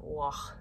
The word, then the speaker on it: Waugh: It's like war and raw, like Waugh.